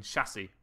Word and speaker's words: chassis: type of stone bird s is silent in chassis by the way two stone